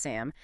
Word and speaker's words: SAM: S adenosylmethionine SAM often pronounced SAM acts as the body's primary essentially universal methyl donor.